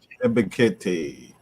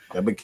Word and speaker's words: Ebiketie: And I forget how you pronounce the second round draft pick's name, the defensive end. Ebiketie. Okay. Ebiketie.